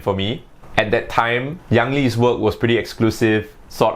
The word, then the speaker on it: Yang Li: before i start off i know many of you guys will be pronouncing his name as yang li which is perfectly fine but for me i'm singaporean and my amnesty is chinese it just sounds more natural for me to pronounce his name by his chinese pronunciation yangli so i'll be doing